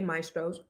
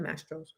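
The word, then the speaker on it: Mastro's: So, I just want to tell anonymous the waitress didn't say maestros. She said mastros.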